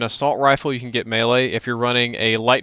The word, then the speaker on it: melee: around when people are shooting you you get melee so that you can stab faster and that word is pronounced melee it's not Mele it makes me want to stab people when they say melee it's melee you get stability so your iron